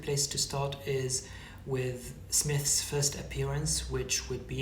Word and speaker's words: Psmith: smith by the way smith is spelled with silent p at the beginning and the reason is